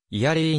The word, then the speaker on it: Erie: を持つ淡水湖英語の発音はイヤリーに近い 25820 1 平方キロメートル